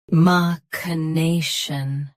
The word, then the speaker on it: machination: Keep k soft and finish with shin. Machination.